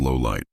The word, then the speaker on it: Lawliet: choses not to 86 lolit is pronounced as low light 87 L uses many